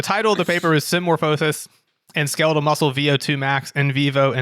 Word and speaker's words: symmorphosis: and so the paper the way that you pronounce the first word is it's symmorphosis symmorphosis i didn't think you were gonna pump